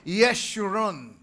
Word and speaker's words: Jeshurun: Yung pangalang Jeshurun, ang bigkas dyan talaga ay Yeshurun.